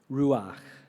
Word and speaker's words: ruach: waves or the win the word for wind or spirit is ruach ruach which do you hear it do you feel it when you speak it breathes when you say it properly ruach and think of the